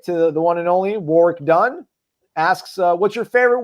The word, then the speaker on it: Warrick: It's funny that he says Warwick because that's what my dad used to always call him, Warrick Dunn. Even when he was a Heisman candidate, my dad was still mispronouncing his name, which I had to correct him on.